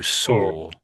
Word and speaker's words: saw: So try to think of a w as being or these other words. Does that make sense? or so. So saw.